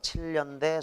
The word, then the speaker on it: 7연대: 형은 지금 군대에서 7년대 소속이다. 자 7년대 7 플러스 연대 니냐녀 뇨뇨. 자 니은 첨가 현상이 있어요. 여기 있다.